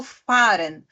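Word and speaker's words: fahren: mas nesse caso não quando ele vem depois de uma vogal ali ele não é pronunciado tá E aí aquela ã aquela vogal ela é falada também puxadinha assim né Por exemplo o verbo faren fa a h r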